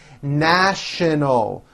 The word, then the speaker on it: national: offices in the city national with the sh sound in the middle and an l sound at the end shin o our story